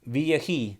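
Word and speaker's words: וַיְהִי: hermanas y aconteció es una frasecita hebrea que se pronuncia vji entonces he puesto aquí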